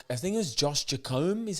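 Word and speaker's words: Jacomb: there yes J I think it was Josh jacome is how you say his second name he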